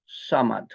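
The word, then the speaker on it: صمد: কোন উদাহরণ নাই কুলহু আল্লাহু আহাদ আল্লাহু সামাদ সামাদ দিয়ে সিন দিয়ে না সামাদ উচ্চারণ কঠিন আপনি সিন হিসেবে উচ্চারণ করেন ঠিক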